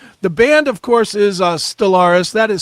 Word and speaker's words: Stellvris: The band, of course, is Stellaris. That is spelled St L V R I S.